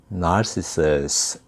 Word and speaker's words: narcissus: 영어로 발음 알아두세요. 나르키서스를 영어로는 narcissus 이렇게 발음하고요. 나르시시즘을 영어로는 narcissism 이렇게 발음합니다. 비슷비슷하죠.